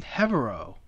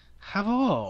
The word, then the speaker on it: Herveaux: her Facebook post, Herveaux. Did I pronounce that right? Herveaux. You just made me like Asian. You just sounded like an Asian that butchered my last name. Sorry. Herveaux.